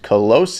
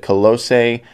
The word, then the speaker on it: Colossae: this new song and new band colosse and their single the seduction of influence now I think that's how you pronounce it colossae one of the members